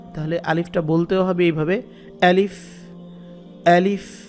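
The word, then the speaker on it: ألف: আচ্ছা, তাহলে আলিফের উচ্চারণ যদি হয় আ, তাহলে আলিফটা বলতেও হবে এইভাবে, আলিফ, আলিফ। এটা খেয়াল রাখবেন, শক্ত করে বলতে হবে। হলকের শুরু থেকে, হলক মানে কণ্ঠনালী, কণ্ঠনালীর শুরু থেকে এটা আনতে হবে।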